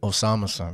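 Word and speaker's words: Osamason: Before we move on from Osa Mason, that's how you say it? Osama-san.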